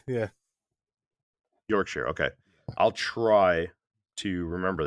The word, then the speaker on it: Yorkshire: It's pretty entertaining listening to people try and pronounce that one without knowing. So would you say Yorkshire? Is that right? Yeah, Yorkshire. Yeah, Yorkshire.